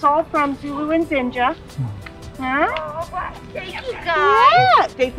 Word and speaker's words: Zinga: And it was Zinga and... Zinja and Zulu.